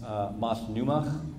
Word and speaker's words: Multnomah: The word is actually pronounced Multnomah in their language, and it basically means we're the people by the water, and it was a village on Savis Island.